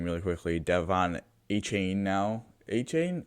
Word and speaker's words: Achane: Achane or Achon? Achon. That's what he wants to pronounce.